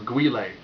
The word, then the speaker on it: Guile: jean-claude van damme as guile or guiley depending on how you pronounce it this movie ironically is